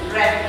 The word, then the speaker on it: read: The difference is the pronunciation. Read in present, read in past. Yes, read like the color of my students.